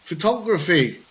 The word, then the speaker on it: photography: T and L okay the stressed syllable goes to syllables before the suffix for example photography photography from old I got say it now photography yes that is it photography because I was reading it as it is as it is and it's a syllable form and as we know English doesn't always work like that okay and the next